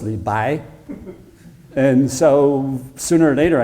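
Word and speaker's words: 李白: No, not Li Bo, it's Li Bai.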